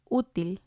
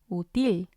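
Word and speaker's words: útil: that doesn't sound right and then we have uttil uttil which means useful and again it has two syllables and we see the accents on the u so we're going to stress that one until otherwise it would have sounded like util util and again it doesn't make sense the accent will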